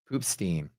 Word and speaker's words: Poopstein: So it's not poop stain, it's poop stain, but it's spelled Stein. So it's Pants Poopstain.